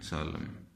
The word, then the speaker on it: solemn: कि होता है डैम, जैसा कि होता है सोलम, SOLEMN, सोलम, ये M सोलम। तो ध्यान रखें, इस तरह ये एंड पे साइलेंट हो जाते हैं।